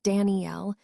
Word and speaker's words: Daniels: She pronounced it in the Spanish way. Danel with the accent on the last syllable.